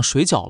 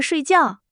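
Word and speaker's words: 睡觉: 我今天好累，我想水饺了。水饺，你是不是想说睡觉？对，睡觉，谢谢你，我声调说错了。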